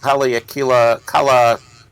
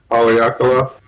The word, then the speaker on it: Haleakala: It's called Kala Observatory, if I pronounce that right. Okay. That's what Dano was saying. He thought we ought to check out, right, Dano? Sir, Haleakala. Haleakala.